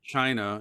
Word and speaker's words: chi: in japan uh it's pronounced ki okay in china it's pronounced chi or qui c-h-i or q-i in